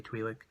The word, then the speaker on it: Twi'lek: At that point, a Twi'lek, or Twi'lek, however you want to pronounce it. I usually say Twi'lek.